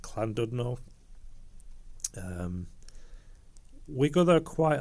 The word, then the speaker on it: Llandudno: london in wales or it's pronounced clandudno um we go there